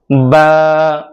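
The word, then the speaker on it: باء: বা আরবি 29টি হরফের দ্বিতীয় হরফ, অর্থাৎ বা উচ্চারণ করতে হবে দুই ঠোঁট থেকে, দুই ঠোঁটের শুকনো জায়গা থেকে শক্তভাবে বাটা উচ্চারণ করতে হয়। বা বা বা বা বা বা বা বা বা।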